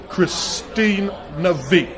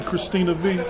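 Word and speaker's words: Kristina V: your hands together for my guest miss model Christine Navi now you have to give me did I pronounce that correctly Christina V yes Christina now does the V stand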